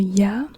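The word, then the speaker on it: ياء: here we have the Y and the Y is like a y sound or like an i i or Y and the Y looks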